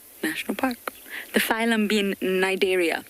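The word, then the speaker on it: Cnidaria: park the phylum being nigeria starts with the sea but you don't pronounce to see nigeria that also refers to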